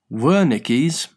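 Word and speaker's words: Wernicke: Worickis pronounced Woricki area is a specialized part of the brain in the left temporal side lobe responsible for language comprehension.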